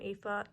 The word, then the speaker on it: Aoife: If you guys remember, there was a girl named Aoife.